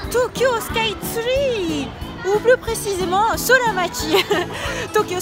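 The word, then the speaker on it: スカイツリー: J'adore me rendre à Tokyo Sky Tree. D'ailleurs, remarquez que je dis Sky Tree au lieu de tree comme en anglais. Mais je le prononce à la japonaise avec un tsu et un ri.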